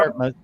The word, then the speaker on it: Dartmouth: Dartmouth.